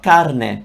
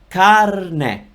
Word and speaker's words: carne: Let's talk about carne, meat, okay? Carne, carne. In this case, I am rolling my R. That's because I can roll my R and it's easy for me.